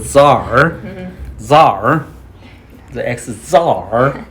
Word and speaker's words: Tsar: The ex-Khazar has been murdered. The word actually C does not pronounce. They're called Tsar.